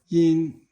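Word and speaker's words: 阴: So you notice that yin is first tone, yang is second tone, and yin, yang, yin has yue and yang has re.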